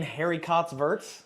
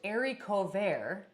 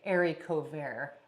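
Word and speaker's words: haricots verts: and it's another it's actually don't you mean Harry cots verts Harry cots I never said Harry but yeah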